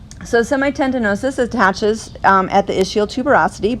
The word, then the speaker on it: semitendinosus: of semi tendonosis okay so but let's go back pronounced to semi tendinosis so semitendinosus attaches at the ischial